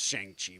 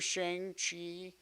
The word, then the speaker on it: Shang-Chi: Not pronounced Shang-Chi, by the way. Pronounced Shang-Chi.